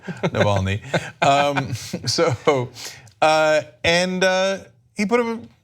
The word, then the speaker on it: Navalny: against them the leading opposition figure is Alexa Naville knee sorry for the terrible pronunciation Navalny so and he put him he had him